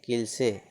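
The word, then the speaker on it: cliché: ठीक, इन कुछ शब्द में होता है, जैसे CLI CHE CLICHE किल से, इसमें ई का उच्चारण है ना, किल से।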